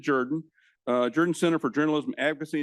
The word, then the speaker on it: Jordan: By the way, we do pronounce it Jordan.